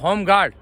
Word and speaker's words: Homguard: होमगार्ड आप समझ लीजिए होमगार्ड होमगार्ड की स्पेलिंग मैं आपको स्पेल कर दूं एच ओ एम जी यू ए आर डी होमगार्ड उसमें ई नहीं है ई साइलेंट है एच ओ एम जी